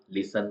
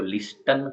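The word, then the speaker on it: listen: कैजल का मतलब किला लिसन का मतलब सुनना तो लिस्टन हम नहीं बोलते हैं अब है बैले तो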